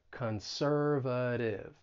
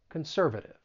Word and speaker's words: conservative: when pronouncing this word the stress is on that second syllable and the T I'm going to pronounce it as a flat T conservative conservative now because we're talking